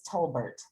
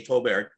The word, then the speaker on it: Tolbert: As far as I know, it's Tolbert. Okay. All right. Some pronounce the T and some do not. So we'll say Tolbert.